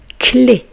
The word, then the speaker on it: clé: La clé. Vous voyez ici, la lettre C va se prononcer que.